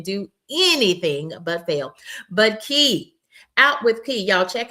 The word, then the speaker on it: Key: But Key, Out with Key, y'all check out with Key. I'm so happy to now be connected with Out with Key. And she says it's pronounced key like a key.